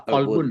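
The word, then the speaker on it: قلب: Ya, kolbun. Hati-hati jangan K. Kalau kalbun nanti anjing perginya. Ini ko ya.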